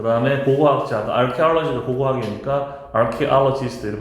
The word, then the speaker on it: archaeology: archaeology. 다시 archaeology. 요게 ch가 크 사운드니까 취라고 읽지 말고 침입자 invader.